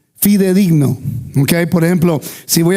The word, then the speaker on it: fidedigno: Pero hay otra palabra, este fedigno se dice fidedigno.